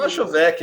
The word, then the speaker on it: Machovec: Primeiro, gostaria de agradecer ao Guilherme Machovek. Estou falando sério? Machovek? Perto o suficiente. Nem eu acerto meu nome de vez em quando, então. Machovek? Diz aí como é que pronuncia. Machovek, é brasileiro.